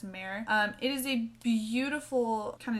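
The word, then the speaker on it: Mehr: is in the shade mayer and it may be pronounced myrrh but i've only ever heard it as marin it is a beautiful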